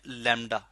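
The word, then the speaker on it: λ: Distance है, इस distance को हम कहते हैं लैम्डा। This is called wavelength. इस लैम्डा को एक ग्रीक लेटर है जी लैम्डा, मैं यहाँ पे लिख भी देता हूँ इसके स्पेल।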